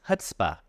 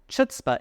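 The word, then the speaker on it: chutzpah: So, don't forget it's hutzbah. Chutza is definitely wrong.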